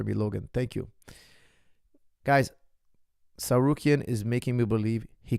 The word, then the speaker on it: Tsarukyan: I think now, after that performance with Arman Tsarukyan, excuse me.